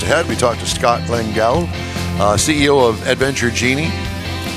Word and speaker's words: Lengal: name all morning long no you've pronounced it perfectly well done how did I pronounce it you said LEL Scott langel okay I just wanted